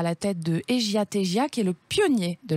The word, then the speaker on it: Egia Tegia: Et donc, déjà, on va commencer avec Egia Tegia, parce que ça se prononce comme ça en bas.